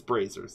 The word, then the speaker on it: brazier: Brazier? Yeah, and I I thought suck it at was- English, so I never fucking know if I just- people are pronouncing shit Okay. right. So it's braziers then, right?